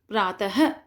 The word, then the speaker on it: प्रातः: प्रातः, पुनः, इसके अंत में अह की आवाज़ आती है, तो ये होता है विसर्ग।